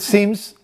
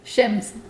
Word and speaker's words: shims: so it comes with seams so it allows you to hit what are you laughing okay what's the quick way to pronounce it shims it just sounds like you keep saying seems so I just wanted